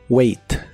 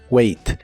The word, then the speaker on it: wait: de inglés es wait la a se pronuncia como e en esta palabra wait wait y en el presente